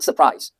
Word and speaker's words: surprise: The same thing is true with the word surprise. Surprise always takes the stress on the second syllable. So surprise, surprise, whether it's a noun or a verb.